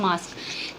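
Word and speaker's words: masque: कहलाता है तो वो कहलाता है मास्क जिसकी स्पेलिंग होती है एम ए एस क्यू यू ई मास्क word का मतलब है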